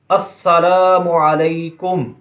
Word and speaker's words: السلام علیکم: Number 11، سلام اور جواب سلام کا درست تلفظ یاد فرما لیجئے۔ پہلے میں کہتا ہوں، آپ سن کر دہرائیے، السلام علیکم ورحمۃ اللہ وبرکاتہ، اور جواب میں وعلیکم السلام